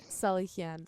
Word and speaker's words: Salihian: Salihian.